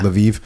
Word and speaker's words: Lviv: it uh going to how do you say laviv is that right laiv yeah laviv going to laviv was